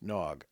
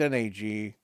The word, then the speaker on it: nag: Nagpas speak the common tongue as well as their own language called nag, pronounced nog. Okay, so no, right? I It's It's n a g. Forgive me for pronouncing it nag.